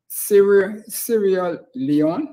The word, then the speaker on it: Sierra Leone: And then he was on to Sierra Leone. That's how you pronounce it.